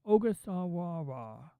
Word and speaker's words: Ogasawara: I can't even pronounce that. Ogasawara.